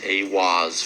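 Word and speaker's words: Aiwass: Aleister Crowley meditated inside the Giza octagram and channeled the divinity Awaz, pronounced Awaz, furthering the immutable connection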